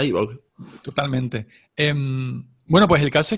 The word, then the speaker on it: iVoox: Se pronuncia iVoox.